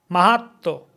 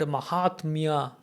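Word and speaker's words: মাহাত্ম্য: So if you want to sound like Bengali, you also do this. Otherwise, you speak your own way, but you should be able to recognize. You should, when somebody else, a native Bengali is speaking with you, you should be able to recognize what he is saying. Otherwise, you have learned Mahatmya. Somebody say Mahatto.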